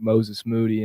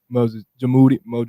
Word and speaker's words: Moses Moody: us, I remember asking him about Perkins, his pronunciation of Moses Moody, and I believe it's the 2020 draft. He's like, what, Moses Jamoody, like he said everything but his real name,